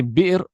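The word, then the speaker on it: بئر: And you can say Bi'r or you can say Bir. Ma'ul Bi'r or Ma'ul Bir. Ma'ul Bir. So the Hamza can be pronounced, or the Hamza can be dropped and turned into a ya.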